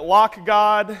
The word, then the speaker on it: Lock.gd: Lock.gd, I pronounce it Lock God, and at Shoebox on Twitter.